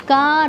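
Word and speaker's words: 日: Bueno, no importa, que son irregulares, pero ahí se pronuncia ka. O sea, ese carácter se pronuncia ka.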